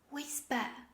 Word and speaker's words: whisper: next example this is whisper yes i think now you can guess the meaning of this word this is whispering whisper the h sound after w is not pronounced whisper actually there are